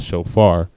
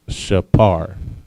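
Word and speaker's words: שופר: And so when they translated it, they tend to translate the p sound into an f sound. All right, not a p but an f, which is where you get shofar.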